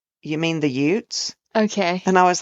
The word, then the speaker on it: Utes: about it, and he's like, "You mean the Utes?" Okay. And I was like, oh, yeah. I don't know that I can go back and fix all the spots in that episode that I said Utes.